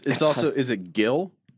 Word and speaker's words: Gil: I've never known how to pronounce that. G-I-L. It's Gil. I would say Gil.